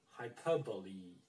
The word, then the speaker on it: hyperbole: why, but, you know, some people say hyperbole, okay? But this one is actually pronounced hyperbole, with E, hyperbole, okay? So you have to say hyperbole, right? Hyperbole, not hyperbole, E, with E, not hyperbole, but hyperbole, okay?